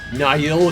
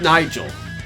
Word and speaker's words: Niall: Niall Cotton, not Nigel. I call him Niall Cotton.